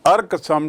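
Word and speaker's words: irk: The share cropping arrangement was अर्कसम टू the present to the presents. अर्कसम मतलब परेशान करने वाला। अर्कसम डोंट अर्क मी सी the spelling I आर के बट द प्रोनंसिएशन इज अर्क इट वाज़ अर्कसम परेशान करने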